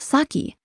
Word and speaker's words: sake: have this word in English in English it's pronounced saki but it's important to know this word means